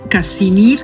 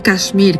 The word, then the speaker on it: Casimir: Casimir, que se escribe como Casimiro, pero sin la O, ¿vale? No Kashmir, que la gente lo puede confundir con otra cosa.